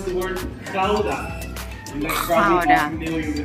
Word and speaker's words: Gouda: Yeah, here in Holland you pronounce the letter G as a. You know the sound of old Harley Davidson motorcycle make when you start it up? Exactly the same thing with the word Gouda.